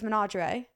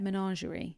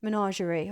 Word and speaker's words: Menagerie: It was Managerie. Manager is how you say it. Menagerie. Menagerie. Oh, like lingerie.